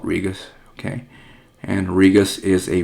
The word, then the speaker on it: Regus: Some people pronounce this Regis. I just call it Regus.